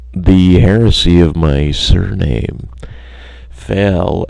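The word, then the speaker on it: Fahl: Fail, F-A-H-L, being pronounced fall, F-A-H-L, because people want to call it that, but how the internal workings of our family growing up had conditioned us to say fail, and now certain siblings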